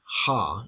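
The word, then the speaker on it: ὁ: see the word o which would be pronounced ha in a rasmussian pronunciation the O after the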